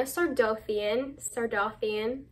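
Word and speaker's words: Sardothien: Sardothian. That's how I always said it. It's probably Sardothian, but I don't like that as much.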